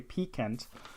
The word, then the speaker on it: piquant: So it's related to the word pique, Pique, so it's spelled that way, piquant. I believe I said it the correct way right here.